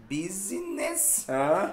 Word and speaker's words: business: Tem um negocinho também, no negócio, que esse som do U é um U, é um B. Business. Business. Business. Duas sílabas. Business. Business. Business. Não é um B compridinho, não é B. B, é B. Business.